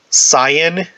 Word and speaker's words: scion: i don't know there's always been a quote-unquote cyan it's spelled s-c-i-o-n um that could become moshiach if